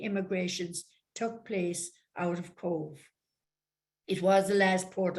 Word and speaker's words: Cobh: Is a town of Cobh, C-O-B-H, as you might say, reading your itinerary, Cobb or Queenstown. Cobh is a Gaelic word, and the reason it is pronounced is spelled C-O-B-H because there is no V in the Gaelic language.